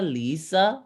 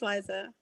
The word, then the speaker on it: Liza: name is it liza lisa lisa it depends who's saying it how do you say it it's your name uh it gets pronounced both ways that's why i always say but it's liza hi liza hi nice to